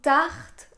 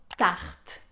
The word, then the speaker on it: tarte: plus léger peut-être que le r que vous avez l'habitude d'entendre pourquoi parce qu'il est à la fin de la syllabe tard tard ce que vous allez faire pour prononcer ce r qui est plus léger c'est partir du son et essayer de le durcir un peu presque comme